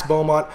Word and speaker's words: Beaumont: Yeah, Max Beaumont.